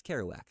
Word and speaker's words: Kerouac: Kerouac. Kerouac. Okay, it's Kerouac.